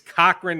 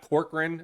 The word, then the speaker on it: Cochran: By the way, it's Cochran, not Corcoran.